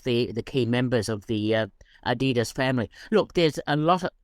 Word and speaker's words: Adidas: In fact, that's how it is pronounced in the film, Adidas.